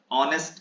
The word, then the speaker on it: honest: तो मैंने बताया था कि वर्ड ऐसे हैं जिनमें H साइलेंट रहता है और इनका प्रोनाउंसिएशन वाउल साउंड से होता है, HOUR, आवर, आवर। एंड ऑनेस्ट का HONEST का ऑनेस्ट।